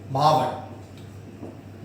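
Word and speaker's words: मावठ: Areas में rainfall होगी मावट। Last class में हमने ऐसे लिखा था MAVATH, इस पहले आप कैसे भी कर सकते हैं, बाकी हम इसको प्रोनाउंस ऐसे करते हैं मावट।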